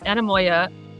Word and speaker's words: Anamoya: I just kept telling myself in the interview, I was like, don't say anemia, don't say anemia.